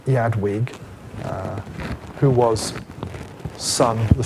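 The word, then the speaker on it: Eadwig: he is succeeded by it's spelled edwi here but we can call him Yad Weg uh who was son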